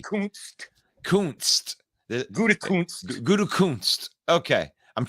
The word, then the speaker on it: Gutekunst: There's a K-U-N-T in there. It's got to be Kunst.